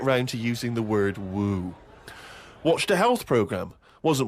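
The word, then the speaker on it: wewe: It was just W-E-W-E. Let's call it a woo.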